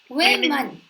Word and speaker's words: women: Women. Okay. So he says this O, this O as E sound in fish.